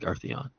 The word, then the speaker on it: Earthion: Earth ion. That's basically how you spell it. Earth Ion. But it's like Arthon.